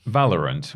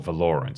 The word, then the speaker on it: Valorant: As Polygon report, Valorant, or Valorant if you want to get, it's up to you how you pronounce it about this, social media team recently